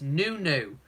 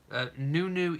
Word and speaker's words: Nonoo: You're saying it's Nonoo. I heard Meghan pronounce it this way. Yes, I was trying to remember how she pronounced it. It is Nonoo, isn't it? Not Nonoo.